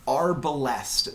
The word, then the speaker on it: Arbalest: the Arbalest, that's how you say it.